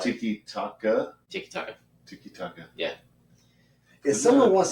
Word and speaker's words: tiki-taka: It's tiki-taki? No. Now I'm going to be mad. Tiki-taka. Tiki-taka. That's what it is.